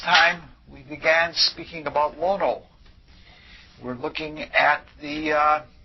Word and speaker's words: Lono: Thank you to Tim last that time for pointing out that I was saying lano instead of lono which is the proper pronunciation and he did it so gently that there's absolutely no hurt in it all.